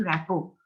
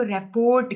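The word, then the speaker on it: rapport: उसके बाद यहाँ पे एक लफ्ज लिखा हुआ है इस्टेब्लिशिंग रैपो। कुछ लोग इसको रेपोर्ट कहते हैं, स्पेलिंग चेक कर लो, रिपोर्ट के नहीं है।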